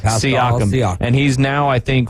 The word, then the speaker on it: Siakam: 37 points, 11 rebounds, and 6 assists for pronounce his last name? Siakam.